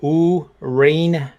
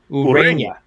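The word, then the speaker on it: Ureña: According to Baseball Reference, is correct pronunciation is Urena. Urena.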